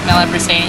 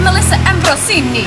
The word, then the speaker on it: Melissa Ambrosini: I'm here with owner and legend and truth seeker from Path to Wellness, Mela Brasini. How you going? I'm good. Yeah, did I pronounce that right? Yeah, Melissa Ambrosini.